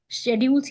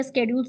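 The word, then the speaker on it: schedules: शेड्यूल्स या स्केड्यूल्स दोनों में से कोई भी प्रोनाउंसिएशन कर सकते हो।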